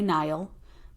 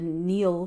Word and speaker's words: Nile: the same time that the Neil some say Nile but I've actually found that the proper way to say the Neil River so this essence of